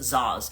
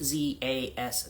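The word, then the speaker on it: Szasz: his name right it's I think it's Zas s z a s z Thomas Zas um and he had he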